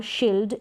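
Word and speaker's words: shield: आई ई को बड़ी ई के रूप में प्रोनाउंस किया जाता है। जैसे यहां पर दे रखा है यल्ड और शील्ड।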